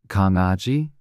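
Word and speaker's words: 강아지: beginning of the word Kang Aji this is the Korean word for puppy it is written using the consonant g at the beginning which is pronounced like the G in go koguma this is the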